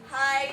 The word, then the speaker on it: high: letters g and H do they make any sounds in the word hi